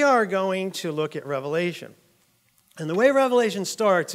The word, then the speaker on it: Revelation: because it get to reveal things to you Revelation right so I had to reveal some things